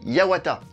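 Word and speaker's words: 八幡: ciel en japonais oui pavillon ça se dit Yawata et c'est également une autre manière de prononcer le nom du Cami de la guerre hatchiman il n'en fallait pas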